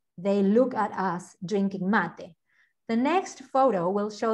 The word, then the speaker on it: mate: everywhere so this is called mate not made mate that's the white the